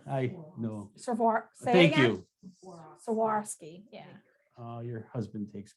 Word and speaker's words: Swarovski: for this holiday season this is the crystal swaborsky crystals i don't think they say it right